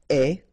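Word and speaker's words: aie: And avoir will become est. Remember the final E is not pronounced, so you only have this AI sound, est, okay?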